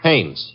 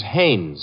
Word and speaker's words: Haines: say his name is haynes h-a-i-n-e-s well as your fellow named heinz used to fish no no not heinz haynes couldn't be hummingbird no